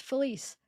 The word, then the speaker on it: Felice: Felice says, "Hey, this is Felice, pronounced Felice. LOL, Turkish name.